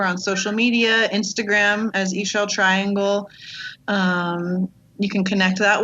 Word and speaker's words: Ixchel Triangle: talked about her but it's i x c h e l triangle um doesn't it doesn't look like it sounds but that's how you spell it and we're on um